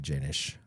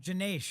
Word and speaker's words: Janis: be the last couple weeks where people are mispronouncing your name. You're going to see Janish on Netflix soon. Still said my name wrong. This Did I not say Janish? Janesh.